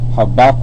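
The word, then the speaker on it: Habakkuk: embrace all right and the way you pronounce it is habak all right habak all right habak habaka which means Embrace and that's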